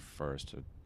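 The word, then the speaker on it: Fürst: and I remembered that the German word for prince sounds like, you know, fierce. It sounds mm-hmm. like first, and people would in America would mispronounce it as first.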